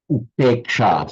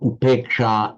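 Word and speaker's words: upekṣā: And in Sanskrit, it is upeksha. So upeksha in Sanskrit, upekha in Pali. And I tried to get the pronunciation right there. You notice that in Sanskrit, I pronounce it with the long A, upeksha, upeksha.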